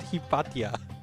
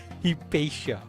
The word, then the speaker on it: Hipatia: That's how you pronounce it? I'm going to pronounce it wrong. I mean, pronounce it Hippatia. Hipatia. Wow.